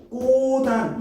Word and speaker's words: 꽃 안: 근데 얘 같은 경우에는 꼬단 이렇게 발음하죠. 꽃 안에 꿀이 있네. 꽃 안에 벌이 있네. 이런 식으로 꼬단 이렇게 발음을 하죠.